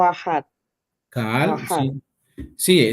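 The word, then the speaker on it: קהל: Es que se puede pronunciar con la K o con la Q.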